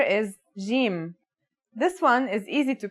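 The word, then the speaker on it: جيم: our first letter is Jim this one is easy to pronounce it's somewhere between a g and a j depending on the accent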